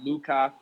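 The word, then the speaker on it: lykke: is a Danish word there's another Danish word that looks like it's spelled likey but it's Luca these are all uh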